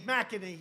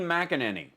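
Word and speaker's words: McEnany: what's her name again but they say kaylee mcaney you know kaylee right kaylee mcadam her name is kaylee mcanini there's a whole other syllable in there now pardon me but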